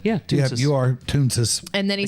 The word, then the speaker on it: Toonces: As soon as I saw that, I was like, wait, am I even pronouncing that correctly? Yeah, yeah, you are Toonces.